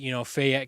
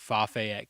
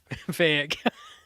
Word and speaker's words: Fayette: Um, as we see, Fayette County, I don't know where Matt got the extra syllable from, calling it Fayette County.